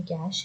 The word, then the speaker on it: cache: कैश memory, कैश बोला जाता है इसे, इसका प्रोनाउंसिएशन कैश है।